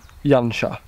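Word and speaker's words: Janša: Hoopoe pronounced his name correctly I did not pronounce his name correctly his name is Anton Jung ha Anton Yong Yong ha and he was a Slovenian beekeeper back in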